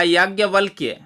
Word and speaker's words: याज्ञवल्क्य: और अगला शब्द देखिए, एक ऋषि का नाम है, उच्चारण तो खास ही ठीक करिएगा, याज्ञवल्क्य, याज्ञवल्क्य।